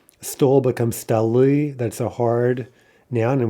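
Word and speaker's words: столы: Stol becomes stali. That's a hard noun, and we see also that that's in-stressed, as we should know in theory. So stol, stali, right? The stress jumps to the plural ending.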